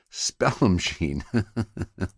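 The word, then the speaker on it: Spallumcheen: cannabis from small machine uh or spelling machine I guess is how it actually I've been pronouncing that wrong all the time Spell machine I'm not sure why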